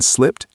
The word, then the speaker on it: slipped: When natives say this fast, the D in slipped almost disappears. It connects directly to the M in mind. Slipped my mind. That helps it flow.